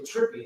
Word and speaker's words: TRPP: It's spelled TRPP, but it's actually Trippy is what they call themselves.